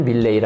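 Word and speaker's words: Millais: 사람입니다 존 에버렛 밀레이 요거는 찾아봤는데요 요게 애는 무음이라서 그냥 발음을 밀레이 아고 해야 됩니다 아마 그 조상이 프랑스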